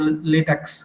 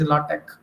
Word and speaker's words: LaTeX: software with latch also that we call latex okay but its actual pronunciation is latch so whether we are